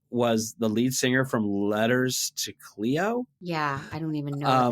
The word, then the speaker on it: Letters to Cleo: a Boston band and she she so you're pronouncing it wrong it's lettu us to Cleo lettuce to Cleo and um she she is famous for singing